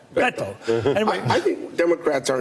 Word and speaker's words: Beto: You bite it off. Beto.